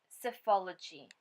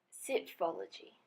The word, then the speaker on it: psephology: This word is pronounced psephology. It is a noun. It means the statistical study of elections and trends in voting. As you can see from the dictionary, there is an alternative way to pronounce this word, psephology.